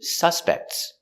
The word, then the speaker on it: suspect: crime there are three suspects suspects and the action the verb i suspect put the stress on the second syllable i suspect that he